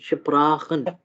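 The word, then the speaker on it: sprechen: सो Sprachen, अब अच्छा, अब अगर एस और पी अगर इकट्ठे हो किसी भी जगह पे, ठीक है, तो हम उसको श और पा का जो है साउंड जो है दोनों को कंबाइन करके जो है ना हम प्रोनाउंस करेंगे, ठीक है। अब उसको शपराखन नहीं पढ़ेंगे, श और पा का मतलब ऐसा समझें कि आधा आधा साउंड जो है ना वो लेना है हमने, शपराखन, ठीक है।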